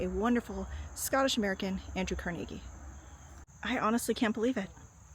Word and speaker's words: Carnegie: Teaching, the Dunford Trust, Carnegie Melon University. I know you do. You don't say CargI Melon. It's Carnegie Melon. It's very confusing. Um, I think it's more like Carnegie has become the American pronunciation.